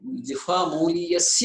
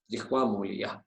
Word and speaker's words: जिह्वामूलीयः: indicating it is a जिह्वामूलीयः जिह्वामूलीयः जिह्वामूलीयः जिह्वामूलीयः जिह्वामूलीयः so it's as though the pronunciation is coming from the root of your tongue जिह्वा मूलीयः, you have to exert pressure तत्र, correct?